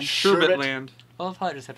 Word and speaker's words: Sherbet Land: All right, Sherbert Land. Sherbet Land.